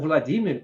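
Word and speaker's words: Владимир: Ou Vladimir, como se fala, na verdade, em russo, né?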